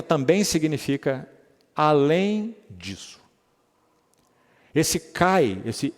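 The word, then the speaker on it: καί: No grego essa palavra, essa palavrinha se pronuncia Cai K a i for transliterar pro português,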